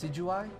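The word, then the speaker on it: Decidueye: Deciduous three deciduous three a deciduous tree is how somebody uh pointed it out to me that you that you should pronounce this thing's nickname or this thing's name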